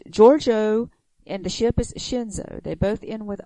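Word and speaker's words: Shenzhou: But, I mean, Shinzo or Shinzao, that's what you just said. It's Shinzo.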